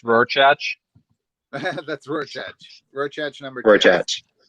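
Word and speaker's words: Rorschach: was going to say so that's pronounced rorchatch that's real chance number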